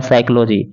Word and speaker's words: psychology: यहाँ पे आप देख सकते हैं पी को साइलेंट कर दिया गया है, यानी कि SY से लिखा गया है, यानी जिसको बोला गया है साइकोलॉजी।